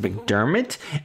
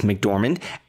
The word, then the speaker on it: McDormand: zhao nomadland stars francis mcdermott er rick dorman i always pronounce her name wrong my francis mcdormand and she plays a